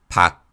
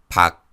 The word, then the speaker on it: 박: When these consonants are used as batchim, they are all pronounced as unreleased 기역 sounds. Listen to the following words. 막, 막, 박, 박, 부엌, 부엌.